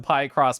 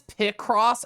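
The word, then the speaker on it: Picross: over God so easy to get lost in pie cross positive H so you looked it up and Pie cross is pronounced like a a short eye picture so it is p cross officially H I have to put my pies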